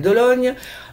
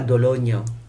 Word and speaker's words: d'Olonne: en cassation des Sables d'Olonne, l'aboutissement d'un long processus judiciaire, non mais faut s'imaginer. Triste vendredi saint, a écrit dans un tweet Yannick Moreau, maire des Sables d'Olonne. D'Olonne, pas d'Ologne.